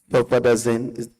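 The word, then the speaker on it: Sulfadiazine: We apply to tender the research proposal with the title, Effectiveness of Aloe Vera Fresh Leaf Compared with 1% Silver Sulfadazine.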